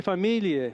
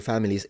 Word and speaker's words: famiglie: So there are three ways to pronounce this GL in Italian. Either you pronounce it like it's supposed to be, which is famiglie, famiglie. That's how it's supposed to be pronounced.